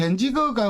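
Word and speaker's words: Danzig: 그러니까 덴지거가 우리가 이제 보통 영어식으로 읽으면 덴지거라고 하는데, 보통 사람들, 일반 사람들한테 그 덴지거 던져놓고 어떻게 읽어요? 부르면은 단찌히라고 읽죠.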